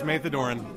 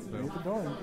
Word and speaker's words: Maethodoron: Actually, I was wondering how to pronounce that because I kept... It's a little difficult for the newer people. It's Maethodoron. Maethodoron.